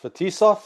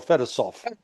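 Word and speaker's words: Fetisov: Is it pronounced Fatisf or Fetisoft? Yeah. Fisoft.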